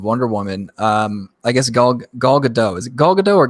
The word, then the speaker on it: Gadot: Speaking of Wonder Woman, I guess Gal Gadot. Is it Gal Gadot or Gal Gadot?